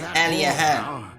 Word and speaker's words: Aliahan: So that's how you pronounce it, Aliahan.